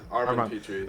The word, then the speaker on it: Armand Petri: So you talked to me a little bit about this, and I don't want to mispronounce the name, so I'm guessing it's Armand Petri. It's Armand Petri.